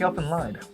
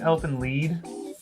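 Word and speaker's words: Elfen Lied: By the way, I think it's Elfin lead. It's a German word. Okay, well, I'm American, and it looks like it's spelled lied.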